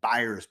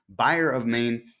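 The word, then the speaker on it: Byer of Maine: looking at the buyer of maine i keep mispronouncing that as buyers because i have a friend named bill myers but it's buyer of maine easy cod this is the cot that allows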